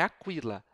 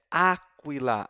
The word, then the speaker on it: aquila: o cima do I Então não é Aquila é Aquila a sílaba é anterior viu o braquia sílaba